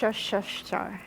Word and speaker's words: Worcestershire: We are also adding (tries to pronounce worcestershire) - Worcestershire.